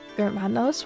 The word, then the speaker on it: Germanos: Germanos with a hard G. Germanos.